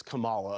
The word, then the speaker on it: Kamala: Kamala. And now she wants to destroy our country. Of course, once again, pronouncing her name incorrectly, it is Kamala, of course.